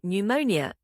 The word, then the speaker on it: pneumonia: o psychology ilman o pneumonia in words starting with PS or PN the p is silent the why do we